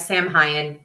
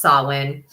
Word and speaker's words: Samhain: so Sinn yes I know it looks like Sam hyen it is not it is pronounced Sinn um so the root of swin is truly